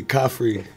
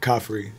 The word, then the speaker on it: Khafre: Caffrey? Is that the way you say it? It's like coffee that's free. Caffrey. Coffee. Yeah, yeah. Coffee. You don't pronounce really the R? No, it's in there. Caffrey.